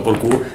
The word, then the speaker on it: Porcu: accento, uh-huh. ma per tutti, per molti, diciamo così, sono sempre stato chiamato Porcu, io un po' per timidezza, un po' per